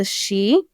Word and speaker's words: Sidhe: They were beyond what's called the Sidhe, which is spelled Sidhe.